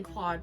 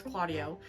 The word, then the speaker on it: Claudio: um where they meet the governor Lenato who who announces their arrival and immediately cla uh Clauddio keep saying Claude but it's like it's Claudio. Claudio is infatuated with Hero